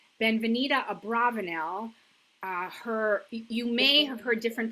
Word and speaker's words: Abravanel: a little bit differently, you could see it read as Abarbanel. And if you put a dagesh in the vets, it would be bet or a vet. So it's the most common pronunciation is Abravanel.